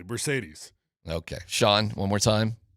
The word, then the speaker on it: Marcedes: UCLA pronunciation guide from 1912 when he was a freshman. Marcaydes. Mercedes. Exactly. Mercedes.